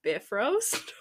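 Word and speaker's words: Bifröst: the bifrost or is one website told me it should be pronounced bifrost which I could not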